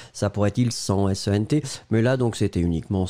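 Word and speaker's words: cent: pourrait être il sent, S-E-N-T, mais là, donc, c'était uniquement sent, hein. Donc le nombre, C-E-N-T, donc le T final n'est pas prononcé, sent, sent, sent.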